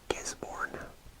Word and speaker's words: Gisborne: taupo and near the coastline here we have gisborne so i'm just going to bring my line right there and that is spelled g i s b o r and